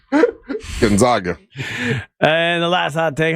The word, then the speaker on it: Gonzaga: And 3, Russ always mispronounces Gonzaga and calls it Gonzanga because it reminds him of boobs. Gonzaga.